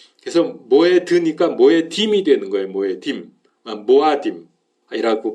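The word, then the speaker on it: מועדים: 그래서 모에드니까 모에딤이 되는 거예요, 모에딤. 모아딤이라고 발음하기도 하고요.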